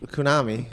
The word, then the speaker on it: Konami: Konami.